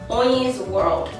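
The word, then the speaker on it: Hoyin's World: y i ns world that is pronounced On's World On's world my middle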